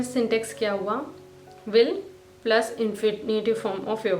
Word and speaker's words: vil: जब आप विल बोलते हैं तो उसको वी बोलना है, वी, या विल नहीं बोलना है या वी, या स्केल